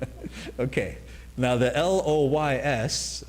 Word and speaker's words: Loys: Now, the L O Y S, I believe is pronounced Loys. According to the French.